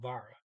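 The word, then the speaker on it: været: thing there var uh the t is completely silent so you just now say e like a trailing e so vara the weather obviously what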